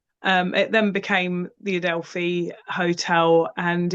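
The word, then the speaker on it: Adelphi: So, you guys were at the Adelfi Hotel. Did I pronounce that right?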